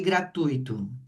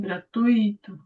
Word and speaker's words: gratuito: Fala para mim qual é a sílaba tônica de gratuito. O I também. Gratuo.